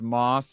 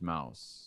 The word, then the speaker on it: Mauss: It's pronounced Moss. I have a tricky one. It's spelt incorrectly. It's actually, my family pronounces it Moss, but it's a German name. And if you're in Germany, it's pronounced Mouse. So, oh, Mouse. Me and my family are wrong in the way in which we pronounce our name.